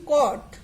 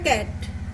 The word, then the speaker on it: cot: আর এই কট হয়ে যাবে ক্যাট। ঠিক আছে, তো এটা যেন ক্যাটও না হয় আর ওটা যেন টেনও না হয়।